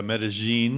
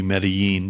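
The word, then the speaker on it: Medellín: area to consider yeah they say medine in um Spanish because down there they pronounce a double L like a j um but in in uh much of the Spanish speaking world that would be medine but either way it's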